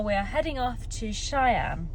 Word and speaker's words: Cheyenne: are heading off to Cheyenne which I've been told that's how you pronounce it Shy an um but it's about